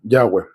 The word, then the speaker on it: Yahweh: Todas las veces que tú veas en la Biblia Jehová, estamos hablando de este nombre, el de las cuatro consonantes que se pronuncia Yahweh.